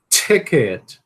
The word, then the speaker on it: ticket: Ticket. Ticket. Ticket. Okay? Nesse caso aqui do T, ó. Você tem que aspirar igualzinho a P, né?